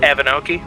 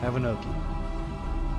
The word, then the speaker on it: Avanhokie: Avanhokie. Avanhokie. As far as I know, that's how you pronounce it.